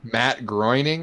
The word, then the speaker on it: Matt Groening: Matt Groening, I think it's how it's pronounced.